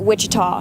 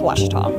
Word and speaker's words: Ouachita: for Washita Baptist University back in Texas everybody pronounces it Wichita but really it's Ouachita Washington how would you pronounce it Ouachita Washita it's Ouachita Baptist University get it right it's